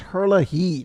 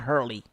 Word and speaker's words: Herlihy: his last name wrong it's Herlihy not Hurley I got Hurley it's Herlihy there's literally another H at the end of his of his name I know he's gonna